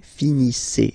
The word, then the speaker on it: finissez: Okay, a Z at the end gives you the sound E. Okay, finissez, finissez.